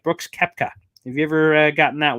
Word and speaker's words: Koepka: Yeah, Koepka. Yeah, that's how it's spelled, and also how it's pronounced for that matter too.